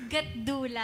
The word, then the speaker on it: Gatdula: Gatdula siya with a D. With a letter D.